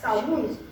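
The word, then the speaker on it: Samhain: Ну, Саунь это еще как-то более-менее близко к теме, но не совсем, потому что по-шотландски гельски Самайн читается как Саунь. То есть там Саунь. Саунь. Саунь. На первый слог, что Саунь. ударение.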